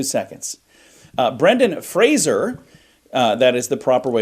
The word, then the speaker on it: Brendan Fraser: Brendan Fraser, that is the proper way to say Love his name, him.